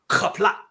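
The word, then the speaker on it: Qapla': Well, and you'll notice when the last syllable in a word ends in a vowel, almost every time in Klingon there's a qaghwl at the end.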